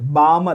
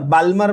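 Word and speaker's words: Balmer: Lyman series, बामर सी, द एल is silent, बामर, बाल्मर, बाल्मर मत बोलना, बामर series, पाश्चेन series, Brackett series and P fund series.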